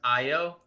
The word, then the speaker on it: Ayo: So first off, I just want to say, we have been saying his name wrong. It's Ayo. Okay. I feel terrible being the resident Bulls fan here. I was watching the other night, and it's Ayo.